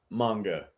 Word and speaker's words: manga: It is pronounced manga.